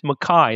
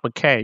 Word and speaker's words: McKay: And he pronounced his name Mai, not McKay, even though he's written down as McKay. He insisted on being called John Mai.